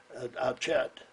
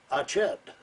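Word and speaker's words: Achiet: build the camp, and we built the camp at Chet, and Oh, this is in a France.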